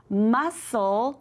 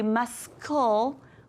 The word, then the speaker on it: muscle: And muscle, we don't say muscle, we say muscle, so that C is our little ghost letter.